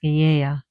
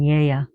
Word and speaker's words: Gaia: Now go back to your notes is the stone mother Gaia which she's pronounced Gaa in Greece. Ga very as you see or even Ya but the stone mother of Gaia that's what it's called.